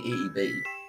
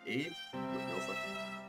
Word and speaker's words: Ib: let's play it so this is slim it's pronounced eve it's just it's easy to say because it looks like it would be eeb yeah that's going to be said eve let's